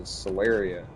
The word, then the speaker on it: Solaria: But uh when I wrote my first big series of stories, which was Solaria. So it's not soul like Sully, it's soul like solar system.